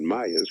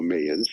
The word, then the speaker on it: Mayans: prophecy of the so-called Mayas, which I do not believe it, by the way. Let me put my 1 cent in there. I believe it's pronounced, first of all, Mayans.